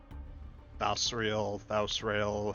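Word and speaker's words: Thausrael: Yeah, it's kind of like Israel, Israel, kind of interchangeable depending on who's saying it.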